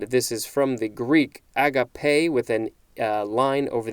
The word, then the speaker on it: agape: no wait this this is a different spelling agape that is how this one is pronounced a-g-a-p-e the pronunciation guide is telling me